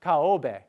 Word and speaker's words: Kobe: this is miss kobe which at that point they pronounced kaobe not kobe but kaobe and that's miss osaka